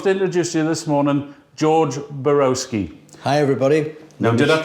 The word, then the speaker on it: Borowski: about i'd love to introduce you this morning george borowski hi everybody no did i pronounce that right absolutely i'm so pleased i've